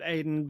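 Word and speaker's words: Adin: A D I N. I pronounced it Aiden.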